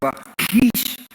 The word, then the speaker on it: Lachish: Now, Lachish that's the pronunciation of it, except that the CH has a guttural sound like Lachish.